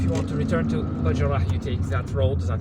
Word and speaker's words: Bachdjerrah: The pronunciation, the correct pronunciation is Bachdjerrah. I'm just using the local pronunciation here, because Algiers residents have their own pronunciations.